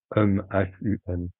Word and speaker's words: Hum: Vous laissez ce chakra vibrer sur le son Am que vous allez prononcer. H-U-M.